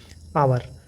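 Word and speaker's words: hour: एच लगा है लेकिन इसको हावर नहीं पढ़ेंगे, इसको क्या पढ़ेंगे, आवर।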